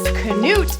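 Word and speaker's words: Knute: Notre Dame playing when Knut Rodney told them to win one for the Gipper Michigan Michigan State or army yes Canute is the Norwegian and proper pronunciation George Gipp was Notre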